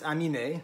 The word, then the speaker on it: Aminé: mean i mean uh but it's amiene there's an accented there in french and there's